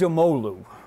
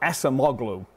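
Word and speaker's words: Acemoğlu: the way top top here adds Omalu not Acemoglu he gets it he's a very nice guy and every time anyone says Acemoglu he kind of eyes glaze over our pronunciation of Turkish last names is hope very good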